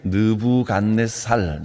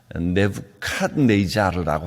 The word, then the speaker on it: 네부갓네자르: 바벨론 제국의 느부갓네살 왕, 보통 이제 성경에 느부갓네살 이렇게 발음을 했는데 네부갓네자르라고 하는 왕입니다.